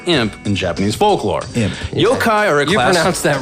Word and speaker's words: yokai: demon or an imp in Japanese folklore him yokai aura gets that wrong nothing wrong it's pronounced yaki it's pronounced iake ducky you okay